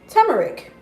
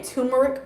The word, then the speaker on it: turmeric: I'm saying it right I've been saying turmeric all my life and then I finally like paid attention to the spelling and I was like oh there's an r in here so um so to